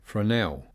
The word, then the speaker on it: Fresnel: and the Volt LMG Fresnel. Apparently that S is silent, according to Zach Priest, and yes, that thing looks absolutely awesome.